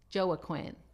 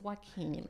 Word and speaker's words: Joaquin: when you look at your name I was pronouncing your name Joe a Quinn that's not his name it's Joaquin so how do you spell it okay then